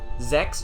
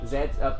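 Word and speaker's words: Zeztz: Zex? No, not Zex. Zetz.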